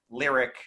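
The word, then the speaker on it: Lyriq: Lyric, and I'm going to stick with that as the pronunciation, it doesn't do it any justice whatsoever.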